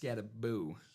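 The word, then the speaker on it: Skattebo: Cam Scataboo reminds me of the same way. Scataboo. Yeah. Mr. Cam Scaboo. Mr. Scataboo. Even though it's spelled Scatabo, it's pronounced Scataboo.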